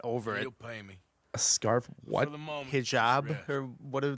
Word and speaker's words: hijab: Hijab? Or what do like Muslim people call it? I don't know. It's spelled like H-I-J-A-B, so I'm going to say hijab.